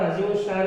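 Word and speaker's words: عظیم الشان: यहाँ पर अजीमुश्शान में ये अलिफ और शीन की आवाज़ निकल रही है, अलिफ और शीन की।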